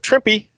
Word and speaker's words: Trimpe: with the art by Herb Trimpe, rhymes with Shrimpy, and Bruce Patterson.